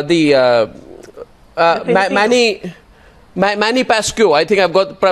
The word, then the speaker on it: Pacquiao: you know uh the uh uh Manny Manny pascu I think I've got pronunciation in correct there Manny Pacquiao he had a 8-year endorsement engagement with Nike